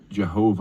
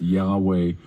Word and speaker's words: Yahweh: that's an English transliteration that is the name Jehovah or pronounced Yahweh or rather than say